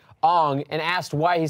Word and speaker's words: Aang: Like, it's Aang. It's like literally said Aang in the TV show for forever, and then he's like, Aang, and asked why he said it was more, like, culturally correct.